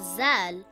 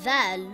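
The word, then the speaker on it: ذال: It is also not Zal with a Z sound.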